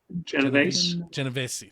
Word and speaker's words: Genovese: Brian Anybody know how to say his last name? VC? Genovese, thank you.